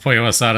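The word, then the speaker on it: pollo asada: That Poyo Asada is pronounced Poyo Asada is funny to you? Fair enough. We'll try this, sure. What could happen? It's a Mexican chicken dish. Pollo is Spanish for chicken.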